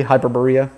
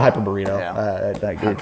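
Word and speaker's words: Hyperborea: is my number 23 hyper Berea I think that's how you say it though we call it hyper burrito burrito but yeah hyper Berea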